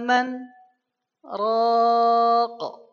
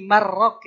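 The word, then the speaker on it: مَنْ رَاقٍ: Waqila man roq 2 t. Ah itu nun sukun ketemu ro kan kalau disambung mah jadi marrok ya. Ini karena dipisah berhenti maka bacanya bukan mar lagi tapi man.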